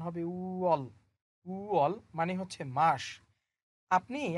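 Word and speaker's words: 월: দেখেন শুরুতে কি আছে, আমি বলেছিলাম এই শব্দটার উচ্চারণ হবে উঅল।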